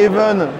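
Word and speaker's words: HAVN: ce tour du stand progamersware avec apnx après even qui s'écrit H a v n on est chez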